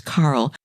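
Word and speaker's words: Karol: And he's listed as the name is spelled K A R O L like the girl's name, but it's not. It's Carl.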